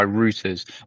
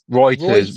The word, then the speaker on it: Reuters: reported by rooters on the 23rd of April indicating Reuters Reuters Reuters blah blah blah blah blah it